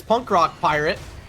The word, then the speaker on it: Punk Rock Pirate: Shout out in chat, Diet Llama letting me know the pronunciation here. It's Punk Rock Pirate.